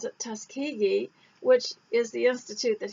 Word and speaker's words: Tuskegee: t washington and somebody kindly told me to pronounce it tuskegee which is the institute that he established and